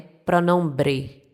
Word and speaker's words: pronombre: Então, no espanhol essa palavra é pronombre. Pronombre. Eu ainda eu ainda falei com o como se fosse um o aberto, né?